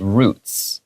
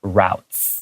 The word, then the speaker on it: routes: And then I read roots But also I have heard people read routes Routes Okay so these two pronunciations are both correct Sometimes it's just a regional thing or a personal preference I think I read